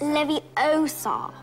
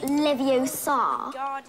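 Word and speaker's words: Leviosa: you're saying it wrong it's Levi Oar not Lev Oar you do it then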